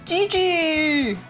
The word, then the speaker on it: Jiji: I know in English they spell it like Gi Gi, but it's actually J I J I. Isn't that interesting? I don't know. Because in Japanese it would be gigi which is also kind of cute gigi.